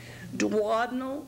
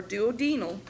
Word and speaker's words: duodenal: you know deglutition deglutition dadal or duodenal it has both pronunciations not at the same time depending on what part of the country and people's favor uh way of saying it I usually say dadal eyelets of Langer Hans